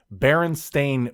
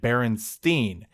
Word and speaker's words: Berenstain: were men's excuse me they were mispronouncing baron stain because he was saying it berenstein a and i don't make an e sound i shouted indignantly